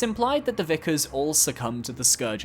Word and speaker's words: Vicar: Vicar Amelia, pronounced Vicar, not Vicar, is the second mandatory boss fight in Bloodborne, and the obstacle keeping you from the Forbidden Woods and beyond.